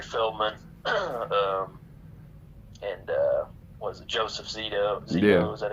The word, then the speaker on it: Zito: You got Corey Feldman, and was it Joseph Zito? Yeah. Is that how you pronounce his name?